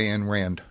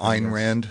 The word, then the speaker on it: Ayn Rand: to a book by anne rand or ein rand if you prefer to pronounce the name in the real russian uh uh i'll just